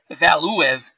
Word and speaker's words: Valuev: It's Valuev, which is the proper pronunciation, but during the fight I have to really concentrate on that.